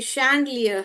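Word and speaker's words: chandelier: ये शैंडलियर है।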